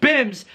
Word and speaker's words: BYMBS: season one finale of b y m b s pronounced bims blow your mind bible